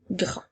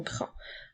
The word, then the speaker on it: grand: Le mot grand commence avec le son G qui s'écrit avec la lettre G, ensuite le son R avec la lettre R et le son AN qui s'écrit A-N-D. La lettre D est une lettre muette.